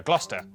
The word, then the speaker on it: Gloucester: a couple of basics sester is pronounced stir leicester worcester gloucester w at the start